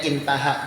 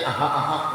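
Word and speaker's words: انتهى: Alif ha ini bacanya intaha, jangan pian baca aha.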